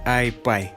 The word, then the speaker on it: iPi: I — это мнимая единица, P — это символ P, но по-английски он произносится как iPie.